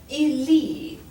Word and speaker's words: lit: It would look like in present tense, the je form is lis, the il form is lit, just like the word for bed.